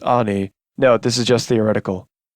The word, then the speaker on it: Ani: And his twin sister Ani, pronounced Ani, note this is just theoretical.